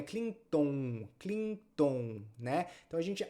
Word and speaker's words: Clinton: m é m m Então não é Clinton é Clinton C aqui a gente tem dois n Então os dois vou fazer Clean Clinton Clinton Clinton então é o Bill